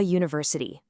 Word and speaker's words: university: We say, a university. Why? Because even though it starts with the letter U, the sound is y, university. That y is a consonant sound.